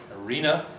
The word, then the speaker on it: arena: Now look at the syllable on its left, the antepenultimate syllable. In C2 there, it has a long vowel or diphthong, aroma, arena. That means it's heavy.